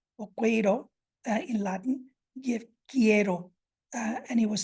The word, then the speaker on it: quiero: So you can see here examples of that inconsistency. So we have a U for quiero and quince that is included coming from Latin, but is not pronounced at all. Moving on to this Z